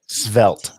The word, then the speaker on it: svelte: Svelte. Stealth. How do you spell it?